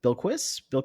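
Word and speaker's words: Bilquis: don't know how to say this is it bill key evan bill quiz yeah you got it you got it okay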